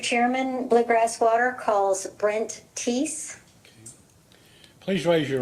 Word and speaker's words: Thies: and your last name is spelled Thies, That's correct. but pronounced Teese.